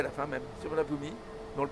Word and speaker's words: Suvarnabhumi: Donc là, c'est Suvarnabhumi. Alors, ça s'écrit S-U-R-V-U-N-A-B-H-U-M. Suvarnabhumi. Avec un I à la fin même. Suvarnabhumi. On ne le prononce pas. Suvarnabhumi. Et on prononce le B un peu comme un P.